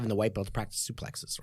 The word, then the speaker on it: suplex: the white belt practice suplexes right there's actually pronounced sue plate but anyway people don't know what I'm talking about what I say it's play so I'm gonna say suplex alright so we I'm